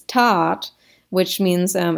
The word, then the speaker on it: That: tot so the t the h is silent t-h-a-t it looks like that in english but it's not that in english it's tat which means um it's